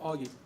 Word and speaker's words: Og: So she said, I'm going to name my son Augie, spelled OG, but pronounce it Augie.